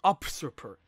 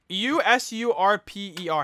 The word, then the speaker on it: usurper: all of that each time she addresses me up super how do you say u-s-u-r-p-e-r how do you pronounce that yo super usurper usurper usurper that's